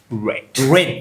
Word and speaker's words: read: Okay, I wish I read ብያነበኩት በነገራችን ላይ the past tense of read is read. The spelling is the same but the pronunciation is different.